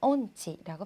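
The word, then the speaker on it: 音痴: 그 다음 온치라고 하는데요. 옴치가 아니라 온치라고 발음해 주시는 게 더욱 깨끗한 일본어가 됩니다.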